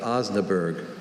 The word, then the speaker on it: Osnaburg: with covers made of Osnaburg. Are there any alternate pronunciations? Just Osnaburg. Osnaburg. Osnaburg. No. Osnaburg. Osnaburg. It's not a hard vowel sound in the middle of this word.